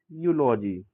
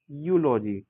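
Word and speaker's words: eulogy: ई यू को यू पढ़ा जाता है।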